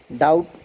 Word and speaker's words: doubt: So in these words, doubt, B is silent, and second one, that.